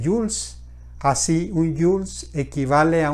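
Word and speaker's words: joules: el trabajo se mide en howletts pronunciándose jules así un jules equivale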